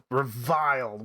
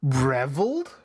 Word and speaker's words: reviled: Reviled. Why couldn't I think of that? I was like, reveled? Reviled. It's vile. It's basically, oh, you're vile.